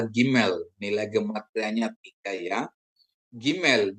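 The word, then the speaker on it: גימל: Gmail dibunyikan seperti G dalam kata gajah.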